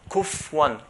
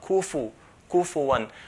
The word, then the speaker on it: كُفُوًا: The fa, we should not pronounce it as a sukun. Pronouncing as a sukun is wrong. So it's not kuf one, kuf one, but kufu one.